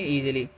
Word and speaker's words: easy: ईजीली next क्या है इ एस वाई तो इ का हर्ष करना इ का दीर्घ एस का ज सॉरी एस वाई का एस का ज करना वाई का दीर्घ तो हो गया ईजी इसे हम लोग क्या पढ़ते हैं?